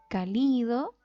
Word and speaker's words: cálido: Donde nosotros pronunciamos más o ponemos más énfasis en la palabra. Decimos cálido, cálido o cálido. Ya, decimos cálido. Esta sílaba donde nosotros ponemos más énfasis vendría siendo la, si esta es la última, esta es la penúltima, es la antepenúltima. Vendría siendo esdrújula.